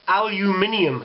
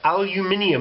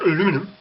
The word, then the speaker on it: aluminium: have history with that like aluminum it's aluminium there's a u in there aluminium not aluminum aluminum the [ __